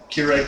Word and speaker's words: Keurig: you notice these cups the Keurig cups or cougar cups as I like to mispronounce it these are plastic